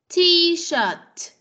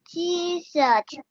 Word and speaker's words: T-shirt: Cái chữ shirt này nó có âm T ở cuối cùng nè. Con phải phát âm ra nha. No, không phải là D, mà là T. T-shirt. T-shirt.